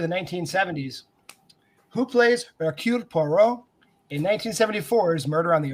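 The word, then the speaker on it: Poirot: the 1970s who plays porro in 1974's murder on the oren express i got that pronunciation down that is how you're supposed to say that name everybody it's not hercules pirate hercules parrot that's my favorite hercules parrot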